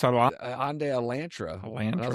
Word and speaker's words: Hyundai: Hyundai likes Sunday and then Elantra. Yeah. I don't know. Some I don't know. It's just interesting. Maybe a different part of the country. It's a Hyundai Elantre.